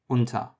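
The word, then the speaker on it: unter: the vowels we have the U closed version appears in things like untha which is under in English it appears in words like put or Hood it's a short u it's like oh and then the open version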